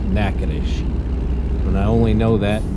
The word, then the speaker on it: Natchitoches: In case everybody's wondering how to say that name there, it's pronounced Natchitoches.